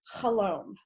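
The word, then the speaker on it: חלום: So the first thing I'll just say is that the word in Hebrew for dream is chalom, rhymes with shalom.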